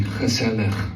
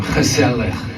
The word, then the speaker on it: gezellig: I promise I pronounced this right, but I'm feeling like this room is very gezellig right now. One more time, gezellig.